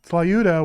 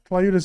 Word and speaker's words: tlayuda: Oh, so the T and the L are next to each other. They are. Oh, that makes it hard to pronounce.